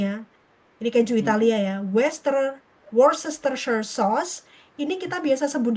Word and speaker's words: Worcestershire: Bacanya gini, Dimas. Worcestershire. Water, Worcestershire.